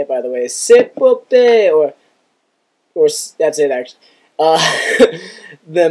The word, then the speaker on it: Cepopeye: I chose the name Cepopeye because, that's how you say it, by the way, Cepopeye, or that's it, actually.